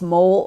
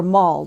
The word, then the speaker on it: MOL: orbiting or orbital laboratory also known as mo L pronounced mole or Moll depending upon which part of the country you come from after several years of